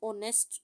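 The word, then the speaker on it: honest: Sajid is एन ऑनेस्ट बॉय, एन क्यों, क्योंकि यहाँ पर ओ एच का साउंड साइलेंट है और ओ का साउंड जो है वो हमें सुनाई दे रहा है।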